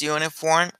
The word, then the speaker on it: uniform: entonces si tenemos uniforme o universidad en inglés uniform University no podemos decir un uniform and University